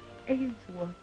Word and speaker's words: Ainsworth: If and you say it right, it's Ainsworth. And he's got a grandma, baby.